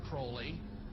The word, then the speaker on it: Crowley: BR have his name pronounced Crowley to rhyme with holy and uh the satanists